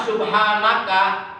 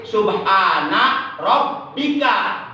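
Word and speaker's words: سبحان ربك: Kalau bacanya subhanaka, itu udah merubah Quran. Udah merubah Quran. Jadi itu salah besar ya. Jadi bukan subhanaka, tapi subhana rabbika rabbil izzati amma yasifun wa salamun alal mursalin walhamdulillahi rabbil alamin.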